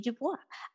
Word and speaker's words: Du Bois: I had never read before I read W.E.B DuBois uh Du Bois I always say Dubois but